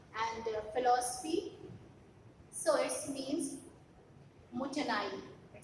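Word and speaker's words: もったいない: So it means mutanai. It's the pronunciation mutanai.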